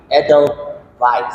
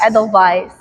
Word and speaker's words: Edelweiss: Edelweiss. Edelweiss. It's really unique. Because yeah, as you've said, W. Yeah, but the pronunciation is V.